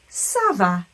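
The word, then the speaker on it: ça: is called the sadilla it's going to be pronounced S I always like to imagine that that little Hook is like turning it into a miniature s so our pronunciation is always SAA when we're answering that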